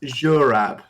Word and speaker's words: Zurab: And my character is Zurab. That's spelled Z-U-R-A-B, but just for everyone else, it's pronounced Z, not Z, in accordance with sort of standard Georgian pronunciation.